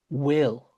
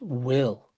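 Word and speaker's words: bhfuil: home the point that this word is pronounced will and uh Will Smith fresh prince of Bair.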